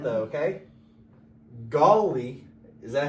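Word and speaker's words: Gauley: I don't know about that, but you're mispronouncing it. Gully? I know you're a Virginia guy, but Fuck off. golly, It's golly.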